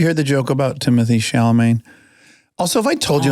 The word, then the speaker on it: Chalamet: Yeah, there's something really powerful about Timothy Chalamet. Yeah. Am I saying it right? Chalamet.